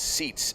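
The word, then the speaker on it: Seitz: out to the mound I believe that's been the pronunciation as seats SE itz that's what the announcement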